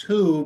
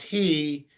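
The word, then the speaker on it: הוא: of of consonants and it's pronounced who because it's referring to a masculine noun and there are times that it's pronounced he even though it's written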